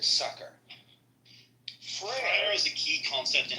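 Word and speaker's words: frayer: I would pronounce that as Freyer. But it's pronounced Fryer with that guttural R at the end.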